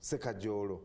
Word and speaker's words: Sekajolo: But joining me this morning is Hassan Sekajolo. Is that the right pronunciation? Exactly. Sekajolo.